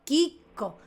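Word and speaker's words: Chicco: Nosotros siempre pronunciamos chico. A ver, yo esto lo aprendí porque viví en Italia. Hoy diría chico, ¿eh? Y en italiano, Kiko. Kiko.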